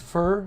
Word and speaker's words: Pho: Oh, is it pronounced fur? I forget. Fur? Why isn't it speaking? It's pronounced, Google says. Fur.